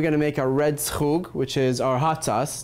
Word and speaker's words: schug: Schug.